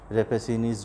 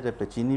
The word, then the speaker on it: Rappaccini: से ये टॉपिक है रेपेसिनीज़ डॉटर। इसको रेपेसिनी भी बोला जाता है, रेपेचिनी भी बोला जाता है, बहरहाल एक नाउन है तो इसके अंदर कोई प्रॉब्लम नहीं है प्रोनाउंसिएशन में।